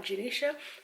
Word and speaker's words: Janisha: first video hi i'm janisha welcome to genesis travels yes my name is pronounced ja nisha for anyone who was